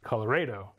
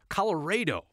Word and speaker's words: Colorado: Spanish roots Rio Colorado evidence from the 1800s show schools teaching a version that sounds strange to our ears Colorado Colorado will call that the pioneer pronunciation another way of saying our state's name still persists on the plains you can still hear Colorado which is an older version that used to be more popular but there still are